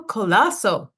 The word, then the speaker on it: Colaço: and software development Fernando colasso am I saying it correctly yes you are you actually said it with the the accent on the C which actually dropped a few years ago uh when I